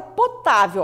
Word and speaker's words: potável: Palavra potável, ó. Potável. Três sílabas. Qual delas é a mais forte? Potável. Ah, é o tá, professora.